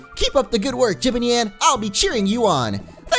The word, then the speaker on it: Jibanyan: Jibanyan! I'm pretty busy right now. And there you go. That's how you say his name, because a couple of